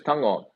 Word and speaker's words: Tago: Who is Tango? So that's the correct pronunciation for Isaac Tago, which everyone calls it. But Tango is Tago.